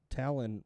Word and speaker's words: Talon: And just so you know, according to the depth chart, Talon rhymes with gallon.